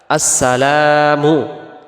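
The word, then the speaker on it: السلام: থাকি এরপরে আসেন দ্বিতীয়টা আসসালামু আলাইকা আসসালামু এখানে লামের পরে যে আলিফটা আছে এটাকে এক আলিফ টান দিতে হবে আমরা যদি এক আলিফ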